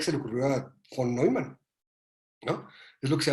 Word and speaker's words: von Neumann: Y como es alemán, se pronuncia Neumann. Yo no sé alemán, pero sé eso. Neumann von Neumann, así como lo escribió Manuel. Exactamente, gracias. Y es von, así pronuncian ellos la B, y Neumann, así pronuncian ellos la EU, es OI, porque es otro idioma, ¿no? Y por favor no digan Newman, porque Newman es otra cosa.